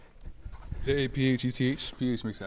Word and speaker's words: Japheth: Japheth. The PH makes an F sound. Japheth.